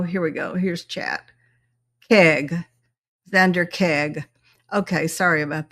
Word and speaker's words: Keig: Keig.